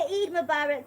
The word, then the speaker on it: Eid Mubarak: Late Eid Mubarak, if that's how you say it. Okay, Eid Mubarak.